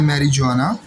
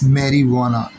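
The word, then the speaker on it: marijuana: है जिसके अंदर इसके आमतौर पर बच्चे पढ़ जाते हैं मैरी जवाना लेकिन बट इसमें जे साइलेंट है इंग्लिश डिक्शनरी का सिर्फ ये एक वर्ड है जिसमें जे साइलेंट है बाकी कहीं भी जे साइलेंट नहीं है तो दिस इज मेरी वाना चर्स ओके मेरी वाना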